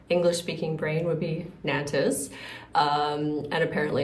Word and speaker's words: Nantes: So I spelled it out N-A-N-T-E-S, which in my English speaking brain would be Nantes. And apparently it's pronounced no. Like, so basically similar to N-O-N-T. So a lot of sounds don't really happen there.